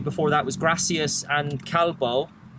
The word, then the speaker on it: calvo: Considering the only other word I knew before that was gracias and calvo. Is it calvo? Calvo, yeah. Oh, calvo. Calvo. With a V.